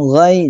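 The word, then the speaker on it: غير: Yang benar adalah alaihim ghair, jangan ditahan. Alaihim ghairil. Ghai, nah, yang benar ghai. Kekeliruan yang sering jumpai ghai ya. Yang benar adalah ghai.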